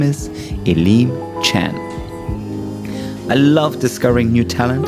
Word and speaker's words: Elim Chan: ELIM CHAN. Did I pronounce it right?